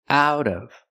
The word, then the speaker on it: out of: Pronunciation, out of. The T changes to a fast D.